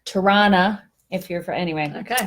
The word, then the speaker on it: Toronto: do you know that there's three ways to pronounce Toronto so if you're from Toronto its Tirana okay Tirana if you're from the United States and you don't know any better its Toronto Toronto and then well shoot